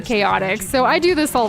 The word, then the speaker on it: Chaotix: Oh, I sometimes, guys, I even said Chowtix instead of Chaotix, so I do this all the time.